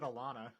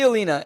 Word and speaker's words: Elena: You said Alana. That's not right. What is it again? Elena? Elena? Cool. Why not? Yeah, sure. Okay. Elena. So, we see Elena, and my initial reaction is, wait, what?